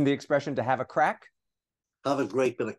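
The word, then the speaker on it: craic: Isn't the expression to have a crack? Have a great bit of crack, yeah. Yeah, that's it. That's and it. It's spelled C-R-A-I-C.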